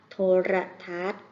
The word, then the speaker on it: โทรทัศน์: เสียง ออก มา ด้วย โทรทัศน์ มี นอ หนู การันต์ นะ คะ อ่าน ว่า โทรทัศน์ อีก ต่อ ไป ค่ะ ค่ะ